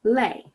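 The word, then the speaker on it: les: thee is normally pronounced lay but even though it's spelled l-e-s that final s is not normally pronounced however when it is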